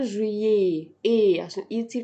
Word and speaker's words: juillet: وفي الاخر بحط او تي اللي هي الاي تي ومش بنطقها. مش بنطقها. الاي تي دي بنكتبها فين؟ الاي تي بنكتبها لو عايزين نستخدم كلمة وكذا. ده وكذا بنستخدم الاي تي دي، اخدناها. او تي بتتنطق ايه، فبقول جوان، جويي.